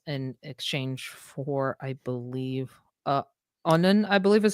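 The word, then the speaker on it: Annunen: Justus and Nunnen is what my pronunciation guide says.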